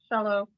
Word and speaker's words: Shala: The program is by Adam Shala. Is that how you say it, Pam? Yes, you're right. Shallow.